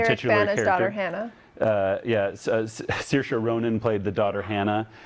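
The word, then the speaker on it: Saoirse: hannah uh yeah so circa ronan played the daughter hannah and uh and then kate uh blanche well pronounced i must say like inertia inertia just like inertia she uh anyway it's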